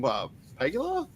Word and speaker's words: Pegula: Sean McDermott, Brandon Bean, Kim Pegula, I think that's how it's pronounced. She's the team president. Also, thoughts and prayers to her. She suffered a cardiac arrest. Yeah, Pagula, thank you.